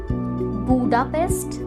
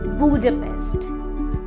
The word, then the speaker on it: Budapest: लेकिन इसकी pronunciation बुडापेस्ट नहीं, बुडापेस्ट है।